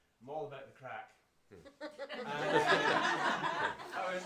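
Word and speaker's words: craic: with them like oh he's got good crack he got good crack and it's spelled c r a i c and it means they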